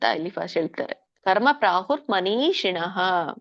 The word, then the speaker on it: ಮನೀಷಿಣಃ: ನೀ ದೀರ್ಘ ಇದೆ. ನೀ ಶಿಣಃ. ಶಿ ಮೇಲೆ ನಿಮ್ದು ನಾಲ್ಗೆ ತುದಿ ಮೇಲಿನ ಅಂಗಳಕ್ಕೆ ಹತ್ಬೇಕು. ಮನೀಷಿಣಃ.